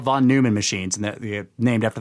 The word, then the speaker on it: Neumann: You know, von Neumann self-replicating machines. Yes, Neumann. Neu. Von Neumann. I mean, NEU is actually pronounced Neu if it's German.